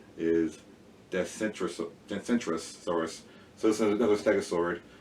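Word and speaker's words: Dacentrurus: This is the same genre, and the name again, say it correctly, is Decentrosaurus.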